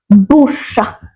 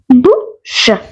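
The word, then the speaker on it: bouche: simple spelling n e z Nez then mouth bush bush let's see how to spell that b o u c h e bu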